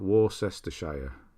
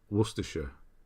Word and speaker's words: Worcestershire: pronounce Worcestershire like that don't overthink it don't do it phonetically because it doesn't work War sister Shire Worcestershire is how you say you just make it